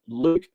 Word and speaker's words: Luke: with a promo code Luke 15 easy to remember my name rhymes with puke that's Luke 15 so